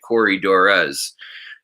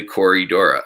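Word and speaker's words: Corydoras: or with plurals like a lot of times they'll say corey dorres when it's just really corey dora um yeah thomas heinz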